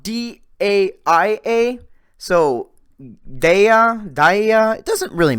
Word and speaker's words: Daia: It's spelled D-A-I-A.